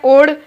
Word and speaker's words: Od: तो इसका उत्तर है एक तो है इब, जिसे इंग्लिश में इसकी स्पेलिंग है IB, ये उड़ीसा में है, और एक है ओड, जिसे इंग्लिश में OD लिखते हैं, और ये गुजरात में है।